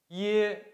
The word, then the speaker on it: ye: 鸭，鸭牙，牙虾，虾 Ye. Ye sounds like E and quickly, like the ye in yet.